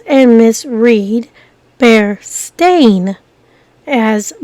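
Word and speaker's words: Berenstain: t a i n is uncommon people often mispronounce and misread be stain as be Steen after hearing and seeing this people misremember the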